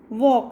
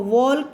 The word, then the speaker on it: walk: खड़े रहना, और WALK वॉक, इसमें L साइलेंट है इसलिए आप उसको वॉल्क नहीं बोल सकते हो, उसको वॉक बोलना है। क्या बोलना है, वॉक।